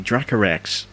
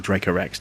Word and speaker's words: Dracorex: Now we unlocked a new dinosaur there, the Dracorex. Or Dracorex, depending on how you want to pronounce it.